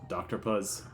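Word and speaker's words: Dr. Puzz: it is DRZ but you're supposed to say it as like Dr puz cuz it's supposed to rhyme with an octopus cuz she's an octopus um but like she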